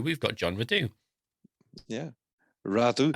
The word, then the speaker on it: Radoux: Radoux. As the French would say. Radoux. I was a French name.